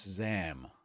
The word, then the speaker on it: XAM: Only 1Password Extended Access Management, XAM, which I assume is ZAM. I've not heard anyone pronounce this yet. Let's call it ZAM because it sounds cool.